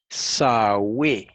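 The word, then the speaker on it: Σαυη: Sigma, alfa, upsilon, eta. Esas son las letras. Sawe. Y se pronuncia así, como está escrito aquí en español.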